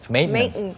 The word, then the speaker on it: maintenance: T 발음이 코에서 나와요. 그래서 maintenance. Like maintenance. 네, maintenance라고 합니다.